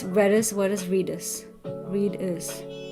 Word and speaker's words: Redis: in the industry who are hiring um it's pronounced reddis you you said Reedus did I say Reus um okay so it